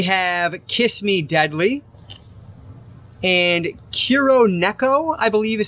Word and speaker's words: Kuroneko: And Kuroneko, I believe is how you pronounce that one.